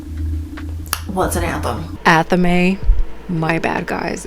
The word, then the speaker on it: athame: And they explain to her, Grace, you stole the anthem in the library. And she's like, what's an anthem? Athame. My bad, guys. It's pronounced athame.